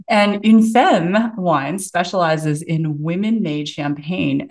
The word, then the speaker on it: Une Femme: grew up in Canada, grew up speaking French, you know it's Une Femme, just so we can pronounce it correctly. And Une Femme Wine specializes in women-made champagne and sparkling wine.